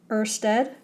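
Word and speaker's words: Ørsted: the third event was Earth's Ted okay I know it's not spelled the way it's pronounced but in our little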